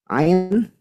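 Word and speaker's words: ع: Ain tidak boleh ke hidung. Huruf ain ini makhrajnya ada di wastul halqi atau tengah tenggorokan, tidak ada sangkut pautnya dengan hidung. Maka kalau keluar dari hidung itu salah. Gimana cara tahu kita keluarnya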